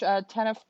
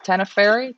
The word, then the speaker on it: Tenerife: Ricardo says this is pretty much Tenef. I can't say that. Tenefer. How do you say that, Ryan? In Portugal, Tenerife.